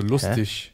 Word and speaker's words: lustig: Dann, was ganz wichtig ist, einer der wichtigsten Regeln ist, alles, was auf IG endet, also das meiste, also eigentlich fast alles, wird mit ich ausgesprochen. Also lustig.